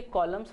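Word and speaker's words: column: के कॉलम्स होते हैं, सो कॉलम उसमें भी एम के साथ एन जुड़ा हुआ है लेकिन हम उसका उच्चारण नहीं करते हैं. स्पेलिंग होती है सी ओ एल यू एम एन. एम एन लिखा तो जा रहा है लेकिन उसको हम उच्चार नहीं कर रहे हैं या उसका उच्चारण नहीं कर रहे हैं.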